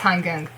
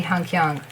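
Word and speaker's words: Han Geng: So if you're reading Hangyang, that's probably a subtitle or a fanfiction or a comment. It's HanGeng, how it should. But Koreans probably say Hangyang, but they never write it down like that. So yeah, so it's like weird, really. No, I don't really like to read it like that, but I do pronounce it like that.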